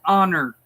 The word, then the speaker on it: honor: silent like it's an honor to meet you the H in honor is silent or else it will